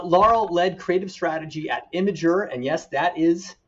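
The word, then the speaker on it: Imgur: at atlassian uh laurel led creative strategy at imager and yes that is how you pronounce it uh that's where i got to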